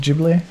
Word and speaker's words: Ghibli: So, like, Is it pronounced Ghibli? It's Ghibli.